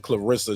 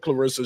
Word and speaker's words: Claressa: of people been saying Clarissa shields for the longest uh they didn't they don't know if the E is pronounced with a short or long sound that that's a fair that's